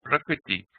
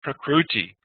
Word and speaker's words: prakriti: We want to help you be able to say prakriti, not prakruti.